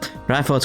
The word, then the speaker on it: Reinford: Reinford's corporate headquarters is right over there. Shall I be going? It's pronounced Reinford, Sharon.